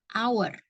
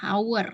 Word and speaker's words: hour: Contoh lainnya adalah kata hour. Ya, hour ya, tulisannya hour, jam, menunjukkan waktu.